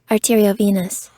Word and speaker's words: arteriovenous: Arteriovenous.